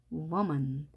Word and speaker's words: woman: 표기할 수는 없는 발음입니다 많은 사람들이 우먼이라고 하는데요 우먼이 아니라 우워먼 워먼이라고 발음합니다 정확하게 발음을 해주는